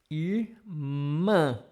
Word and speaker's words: irmã: Irmã, irmã. Close your nose slightly.